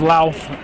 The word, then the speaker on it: Louth: The last name is Louth, rhymes with mouth.